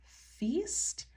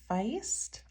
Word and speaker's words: Feist: right so this one I pronounce it Feast it could be Feist I think it's Feast by Stephanie Jennifer and